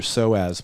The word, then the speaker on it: psoas: So one of your main hip flexors, your psoas muscle, spelled with a P, a PSOAS, it attaches for your femur, which is your big leg bone.